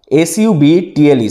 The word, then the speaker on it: subtle: His works are known for their subtle characters, SUBTLE, subtle, B এখানটায় silent.